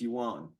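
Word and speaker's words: 源: character Yan for Source these all these characters are pronounced youan down here and we'll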